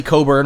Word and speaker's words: Cockburn: Well, the thing that I love, I want to mention, first of all, the Democrat is Leslie Coburn, of course it's spelled Cockburn, but the Republican is